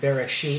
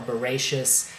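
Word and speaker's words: בראשית: So from the beginning, and Genesis or Bereshit or Bereshis, however you want to pronounce that in Hebrew, literally just means beginning.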